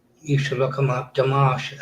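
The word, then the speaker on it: Dimash: Damash.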